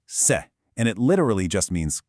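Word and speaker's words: 色: So, this character right here is eido, pronounced se, and it literally just means color.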